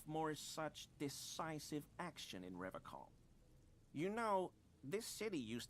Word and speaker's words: Revachol: You said Revachol. I like to pronounce it the hard way, the old way, the Vespertine way.